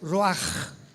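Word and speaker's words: רוח: Apunta la palabra espíritu en el hebreo Ruach, con CH se pronuncia Ruach, como con J.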